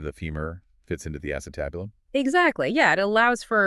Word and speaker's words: acetabulum: remember back in anatomy class learning about the acetabulum is that how you say it yeah the acetabulum and that's that socket where your femur or